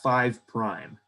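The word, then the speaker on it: 5′: The names for the front end and the back end, we call them 5', which means 5 prime. We say that 5 prime. So you would pronounce it like 5 prime.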